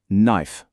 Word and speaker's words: knife: On entend très clairement knife, aucune trace du K.